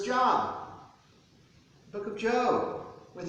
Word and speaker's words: Job: And the book of Job, which sometimes is mispronounced as Job.